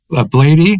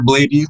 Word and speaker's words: Bladee: Bladey, is that right? Bladey? Bladee? Yeah, you can say Blade or Bladey. That's what he says.